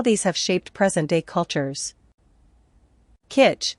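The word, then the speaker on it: K'iche': have shaped present-day cultures kit pronounced kaita previous Spanish spelling quiche are indigenous peoples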